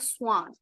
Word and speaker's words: Schwann: So the scientists were sleen and swan. Okay. The pronunciation would be Swan.